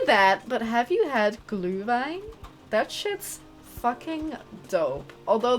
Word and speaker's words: Glühwein: No, like, glue as... I can't say it properly because I'm terrible at German. I almost said Spanish, which would also be true, but irrelevant. But, like, glue, like, G-L-U with an umlaut, and then H.